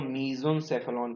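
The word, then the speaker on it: mesencephalon: जो भाग कहा जाता है इसको कहते हैं मीजोनसेफेलॉन। क्या बोलता है? मीजन या मीजो, माफ करिएगा स्पेलिंग गलत है, मीजनसेफेलॉन कहते हैं।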